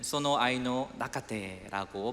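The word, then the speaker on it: その愛の中で: 일본어로는 소노 아이노 나카테라고 발음을 합니다.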